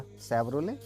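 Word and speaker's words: Chevrolet: ये देखिए, शेवरोले। शेवरोले, ये च नहीं है, ये श है, शेवरोले। वो शेवरलेट नहीं है, वो शेवरोले है, गाड़ी का नाम है।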